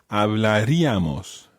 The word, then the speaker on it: hablaríamos: Hablaríamos. Hablaríamos. Now watch the stress there, it's hablaríamos.